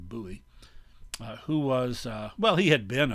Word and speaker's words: Bowie: Also present was the guy on the upper right, Jim Bowie, sometimes pronounced Bowie, but more often Bowie, who was, he had